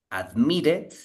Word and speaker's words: admitted: When the verb ends in T, in this case, we pronounce the E, okay? Admitted, suggested.